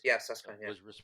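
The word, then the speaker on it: Süskind: And then I got the impression that a man by the name of Walter Susskind, if I'm pronouncing it correctly, it is, Susskind, was responsible for saving a lot of Jewish lives, including to some degree Salomon.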